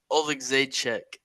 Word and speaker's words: Oleksiejczuk: Pereira versus Michael Oleksiejczuk is the way you pronounce that last name.